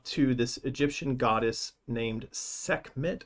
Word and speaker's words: Sekhmet: scruffy bumps up to this egyptian goddess named sekhmet how would you pronounce that sekhmet sekhmet yeah i think that's probably yeah uh